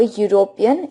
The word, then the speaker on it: European: a wowl e with the sound of U comes over here that's why over here also we will use a a European instead of using an an